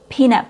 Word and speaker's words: peanut: It has a long e sound. Panut. And it's a phrase, well, it's a name of a food item, peanut butter. If you shorten your long e sound and say peanut butter, peanut butter, so your vowel is too short and um your your